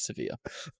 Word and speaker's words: Sevilla: Seabilla. If you Google how to pronounce it in Spanish. Yep. Sevilla. A Spanish person there told us it was Sevilla.